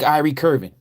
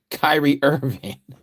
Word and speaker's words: Kyrie Irving: like Ky Ire Curvin. Uh I can't even say his name right. Kyrie Irving. I said his name all wrong.